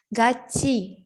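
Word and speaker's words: 같이: dibacanya ganti kenapa jadi kalau ada huruf t ketemu sama huruf i di bakal berubah jadi C contohnya Ini gaci gitu Jadi bukan kita picek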